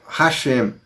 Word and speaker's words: Hashem: Yod, Re, Vav, Re é o tetragrama sagrado que é lido pelos rabinos e pelos judeus ortodoxos como Hashem, o Eterno. Eles não pronunciam, eles preferem falar o Eterno, quando eles lêem o tetragrama.